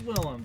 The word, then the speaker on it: Willem: a carousel okay everyone vote cthulhu or lighthouse william defoe really my friends fell in his name wrong it is willem damn well no so on his wicked william